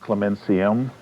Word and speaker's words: Clementium: She was baptized Clementium, Latin, pronounced Clementium, and so Clementine shortened it to Clemence, and that's what this is, Clemence.